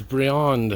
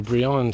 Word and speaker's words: Briand: all right so now this is Briand or Breeland Street Brian depends how you want to pronounce it and I will we